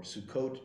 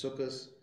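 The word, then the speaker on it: סוכות: the emphasis is on the second to last syllable, or Sukkot becomes Sukkos.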